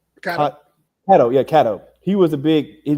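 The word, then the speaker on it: Catto: Yeah, Kato.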